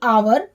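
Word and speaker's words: hour: पड़ने तो यहां पर भी च्यू है वह साइलेंट है क्योंकि वह एक वह बल है ऐसे ही आवर आवर का मतलब होता है घंटा तो देखिए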